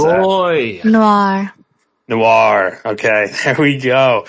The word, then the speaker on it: Noir: How do you pronounce that? Roy. Noir.